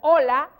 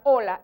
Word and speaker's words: hola: hola claro claro hay y se pronuncia igual porque para nosotros la h es muda hola es una expresión propia